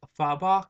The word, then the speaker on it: Fabok: uh Jason fadok uh fa fabok is that how you pronounce it fa a b o k you guys can correct